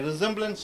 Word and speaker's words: resemblance: Okay, resemblance to? Resemblance to? After A, E, I, O, S comes, S is pronounced as Z.